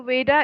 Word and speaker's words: Vayda: Okay, so Veda is spelled as Vayda.